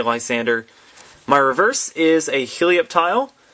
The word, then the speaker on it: Lysandre: Pidgey, Litleo, Sneasel, Seedot, Flabébé, Celio, Lysander, and Roserade, or however you want to pronounce that, Lysandre. I say Lysander.